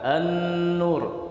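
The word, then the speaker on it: النور: lam yang setelahnya Nun seperti kalimat an-nur tulisannya al-nur ya Gan Tapi kita baca endur ini yang boleh Hai tapi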